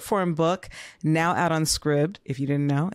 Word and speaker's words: Scribd: This is a short form book now out on Scribd. If you didn't know, it's pronounced Scribd and not Scribed.